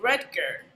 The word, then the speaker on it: Rudger: let's just get that out of the way rutger hello can you hear me there we go